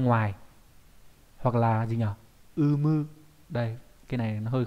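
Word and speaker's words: 有無: Umu. Đây, cái này nó hơi khó viết cho các bạn cái đọc này. Vô với lại hữu với lại vô đọc là umu, là có hoặc là không có.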